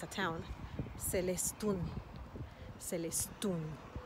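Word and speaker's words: Celestún: And a beautiful one here in the Yucatan is called, it's a town, Celestun. Celestun. Why Celestun? Because the emphasis is on the last syllable with the U because of the accent.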